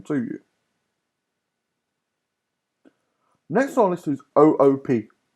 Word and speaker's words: OOP: you next honest is 00 p OOP not oops but 00 p stands for object orientated programming